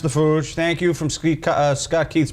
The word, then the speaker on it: Fooge: Pronounced The Fooge.